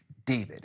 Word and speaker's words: D4vd: Uh, and all of it has centered around the singer named uh David. It's pronounced David, but it's spelled uh with um with a four.